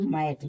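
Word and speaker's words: math: आई टी एच फैट एम ए टी एच ई मैथ देखिए अंत में है मैथ पढ़ेंगे सी एल ओ टी H cloth देखिए अंत में जब टी एच रहता है तब भी इसको ठ पढ़ते हैं एच इ एल टी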